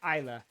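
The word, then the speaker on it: Isla: Isa. It's spelled I S L A, but the S is like silent, so it's Isa.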